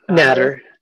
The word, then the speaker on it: Nader: Looks like, is that pronounced Nader or not? Natter. Natter.